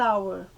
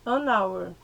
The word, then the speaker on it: hour: Então, an hour. Hour, a gente não pronuncia esse H. O som é da vogal que vem depois, tá? An hour.